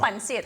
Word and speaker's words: pancit: It's pancit.